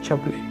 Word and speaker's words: Chablais: Era el Chablais, se pronuncia Chablais.